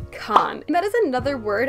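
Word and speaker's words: Cannes: But nonetheless, I know how to pronounce it, and it's Con, not Cans or Canis.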